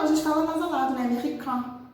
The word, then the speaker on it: américain: Americain, porque o IN tem som de an em francês, é americain.